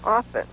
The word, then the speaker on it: often: when I was younger we were taught that one does not pronounce the T and often and I still don't